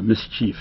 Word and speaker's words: mischief: Well, I look at the word mischief as the key word, or mischief is how you want to pronounce it, mischief.